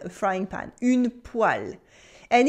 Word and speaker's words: poêle: Yes, it is une poêle, a frying pan, une poêle. And it's a funny word with a strange pronunciation. Here the E sounds like a A, une poêle, une poêle.